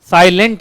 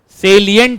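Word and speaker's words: salient: चलो अब हेडिंग बोलो साइलेंट नहीं होता है भगवान मेरा बच्चा सब कब सम लेगा सेलियंट है तो साइलेंट तो साइलेंट फीचर होगा तो मैं ऐसे ही पढ़ाऊंगा ना साइलेंट फीचर है ना आवाज नहीं आ रहा देख अगर ये साइलेंट फीचर होगा तो मैं साइलेंटली बोलूंगा यह सेलियंट है सेलिट मतलब इंपॉर्टेंट अब सुनो यह सेलियंट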